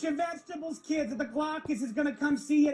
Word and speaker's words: Glaucus: Eat your vegetables, kids, or the Glaucus is gonna come see you tonight. Release the Glaucus! Just doesn't have the same thing as Kraken. That's true. The hard C.